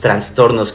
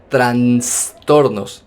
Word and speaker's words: trastorno: okay también ahí dijo transtornos va Otro aspecto que no lo digo para burlarme va solo para hacer la aclaración Que ya no se dice transtorno sino se dice trastorno o a lo mejor